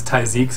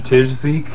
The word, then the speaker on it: Tijzeke: too long ago good we actually had been saying his name wrong for quite a while which is apologies yeah apologies to you man but we always called him TI but it's taik so I'm pretty sure he's